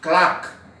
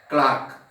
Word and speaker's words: claque: It is CLAQUE. CLAQUE. You have to pronounce it as clerk. You have to pronounce it as clerk. The spelling is CLAQUE.